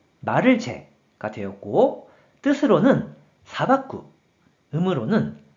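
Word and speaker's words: 裁く: 그래서 재판할 재, 말을 재가 되었고 뜻으로는 사박구, 음으로는 사이로 각각 발음한다고 설명드렸어요.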